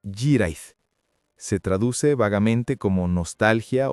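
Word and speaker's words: hiraeth: En Galés, la lengua celta que se habla en el sur de Gran Bretaña, eso se llama Jirait. Se pronuncia aproximadamente Jirait.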